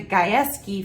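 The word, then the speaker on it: Gajewski: live music from the guys key family so guys is spelled g-a-j-e-w-s-k-i isn't that cool and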